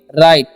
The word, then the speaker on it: write: Okay, WRITE है तो इसे हम पढ़ेंगे राइट। ओके, यहाँ पर W साइलेंट है।